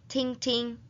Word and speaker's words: 听听: When doubling a one-syllable verb, pronounce the second syllable with a neutral tone. 听听.